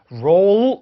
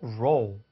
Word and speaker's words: roll: 그래서 roll 이렇게 하는 게 아니고 roll. 그렇죠?